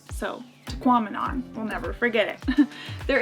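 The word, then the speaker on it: Tahquamenon: to pronounce this because they had a sign there saying it sounded like phenomenon so tequaminon we'll never forget it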